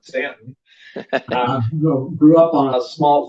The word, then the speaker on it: Staunton: I was born in the Shenandoah Valley, Virginia, near Stanton, which is spelled Staunton, but if you're a native, you call it Stanton.